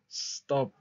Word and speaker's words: stop: tres consonantes verdad pero es una sola sílaba porque yo no digo St no digo stop stop okay Y aparte con la